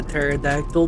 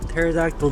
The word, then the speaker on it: pterodactyl: fly around on a pterodactyl the p is silent but um you know bolonda raptor is pretty good it's it's fast it's nice but i like the pterodactyl the p is silent